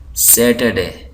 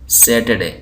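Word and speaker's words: Saturday: आर डी ए वाई यहां पर मैं ये प्रोनंसिएशन के बारे में ये कहना चाहूंगा कि इंग्लिश जो बतानिया में बोली जाती है वहां के लोग जो है टी यू जब आ जाए तो उसको चे की आवाज पढ़ते हैं और अमेरिका के लोग टी यू जब आ जाए तो उसको टे की आवाज ही पढ़ते हैं चचे नहीं पढ़ते तो बतानिया में इसको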